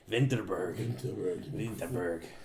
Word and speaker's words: Vinterberg: It doesn't look great, but what's exciting about it is it's from director Thomas Vinterberg, who did I think you pronounce it Vinterberg.